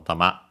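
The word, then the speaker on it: たま: We'll quickly check its accent, which means ball, sphere, and so on. Yeah, fundamental meaning ball. Yeah, accent on the last syllable, tama.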